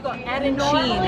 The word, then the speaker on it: arancini: It's arancini? Very close to arancini. Arancini! I forgot the chi.